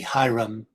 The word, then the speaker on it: Hiram: Next up, Hiram Abif, I don't know, this CH, this C, Hiram, is just, as far as I know, that's just pronounced Hiram or Hiram of the Chaldees, is also a solar deity.